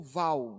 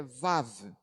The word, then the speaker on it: Vav: Então, a pronúncia saiu diferente. Então, em nossas Bíblias aparece como Val, né? O certo é Vav.